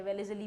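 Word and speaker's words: Wellesley: तो उसने एक पॉलिसी इंट्रोड्यूस करी जिसका नाम क्या था, तुम क्या बोलना चाहते हो, एस साइलेंट है, वेलेज़ली बोलते हैं उसको, ठीक है।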